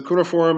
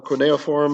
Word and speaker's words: cuneiform: Ebenezzu is your native tongue, which uses a system of cuneiform writing. So cuneiform is or cuneiform. It's pronounced different ways, but I think cuneiform is the kind of official way.